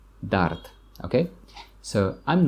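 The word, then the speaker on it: дард: this medicine you will feel better is pain Dart Dart Dart okay so I'm not in any pain management luckily normally we don't pronounce the last letter letter de at the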